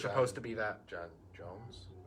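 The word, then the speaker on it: J'onzz: John Jones. I say John Johns. It's spelled with Z's.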